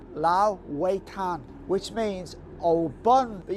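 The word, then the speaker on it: 老外滩: It's called Lao Wei Tan, which means old bun. But you need to be very careful how you pronounce it, because if you pronounce it Lao Wei Tan, it means foreigner beach.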